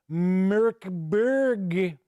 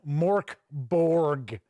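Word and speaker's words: Mörk Borg: as my review of Merkberg. I believe that is how this is pronounced. I think it's kind of how I was pronouncing it. I know it is not Morkborg, like some reviewers have pronounced it.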